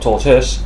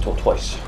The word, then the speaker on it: Tortoise: was about to say but it's actually the Destroyer tortoise not torto tortoise it is right those people who cannot pronounce it Toros and tortoise are